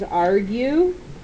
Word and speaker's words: argue: off to the side because it's not pronounced with a G.